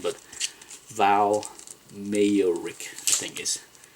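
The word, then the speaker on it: Mayerik: I'm not sure how to pronounce the last name, but Val Mayor Rick, I think is how you pronounce it.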